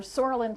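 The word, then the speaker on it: psoralen: still in use today for sorin plus UVA silent P um uh is used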